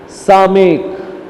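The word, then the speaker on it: סָמֶךְ: सामेक। इसको क्या बोलते हैं? सामेक। इसको भी यस साउंड आएगा, सामेक।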